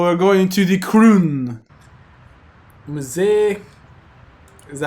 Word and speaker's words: Musée: Musée. Is that how you pronounce it? Yeah. Musée.